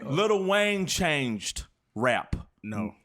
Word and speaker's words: Lil Wayne: Lil We Wayne. was doing too much. Doing 2 syllables. Code switching. Little. Oh, look, she got me for the Yeah, code you switching. did. Lil Wayne.